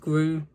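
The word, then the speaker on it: Glu: It's spelled G-L-U, no E's. But I'm pretty sure it is pronounced Gru.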